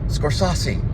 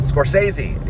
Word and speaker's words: Scorsese: it's Taxi Driver by this guy named scorsi or what I couldn't say his name correctly and uh Bobby skz who who I call him Bobby skz Rob Robert bosquez he said Scorsese you know and I